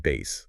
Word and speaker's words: bass: And we should say that's pronounced bass, like the instrument, of course, and he turns that criticism into a monster hit.